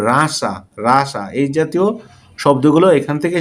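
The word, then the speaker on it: Russia: রাশিয়া, আমরা বলি রাশিয়া, আসলে ইংলিশ হবে রাসা।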